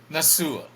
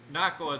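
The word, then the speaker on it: Nacua: But Tutu Atkins and Puka Nasua. Nakwa. Nakua. Nakwa is pronounced.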